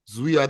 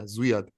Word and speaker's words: Zviad: And then, how do you pronounce his first name? Zavad? Lazishvili. Zviad Lazishvili. Yeah, Zviad.